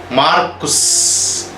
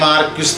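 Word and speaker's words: Marquis: ദി മാർക്കുസ്, ഇംഗ്ലീഷിൽ മാർക്യുസ് എന്ന് പറയും, ഫ്രഞ്ച് ഉച്ചാരണം മാർക്ക് എന്നേ ഉള്ളൂ. മാർക്ക് ഓഫ് എവറിമണ്ടി, അതാണ് മാർക്കുസ്. ഇംഗ്ലീഷിലെ പ്രൊണൗൺസിയേഷൻ മതി, ദി മാർക്യുസ് ഓഫ് എവറിമണ്ടി.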